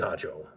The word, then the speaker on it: Harjo: So the R is not a sound in the name Harjo in Greek.